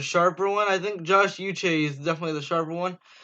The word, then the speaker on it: Uche: Uche, pronounced Uche, did not start any games for the Wolverines in his first 3 years with the team.